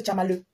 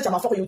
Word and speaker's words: Tchamaleu: Tu dis Thérèse Tchama for you. Tchama for you, c'est son nom. Hein? For you, c'est pas son nom. Elle s'appelle pas Thérèse Tchama for you. Elle s'appelle Thérèse Tchamaleu. Prononce Thérèse Tchamaleu.